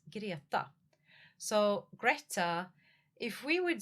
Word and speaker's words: Greta: But Greta in Swedish is girata.